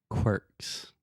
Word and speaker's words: quirks: Quirks. Quirks. So imagine the word work Mm-hmm. and then put a Q in the front.